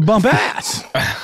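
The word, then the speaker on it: Bumpas: you pronounce this name it's what you do at the club y'all you bump ass oh another Legacy of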